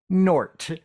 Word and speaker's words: Gnort: You have to be from his planet to understand that the G is silent. Okay. So, you are credited with creating Nort.